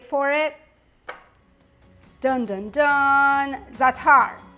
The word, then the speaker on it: za'atar: Za'atar is actually the proper way to say it, and it is epic if you haven't tried it.